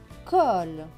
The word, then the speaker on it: colle: Le C ici va se prononcer que parce qu'il y a le O juste après, donc que et ol, colle.